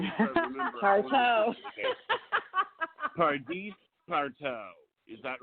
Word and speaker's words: Pardis: Yes, Pardis. I know. I want to make sure I remember. Partrow. Pardis Partrow.